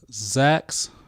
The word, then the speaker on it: X.A.A.K: So, Zach's, am I pronouncing that right?